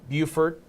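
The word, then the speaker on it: Beaufort: with Savannah Hilton Head Island over towards uh Buford which is Southern portions of uh South Carolina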